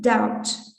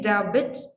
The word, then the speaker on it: doubt: why it has caused doubt this be is not pronounced you cannot say darbit it's doubt okay let's go on i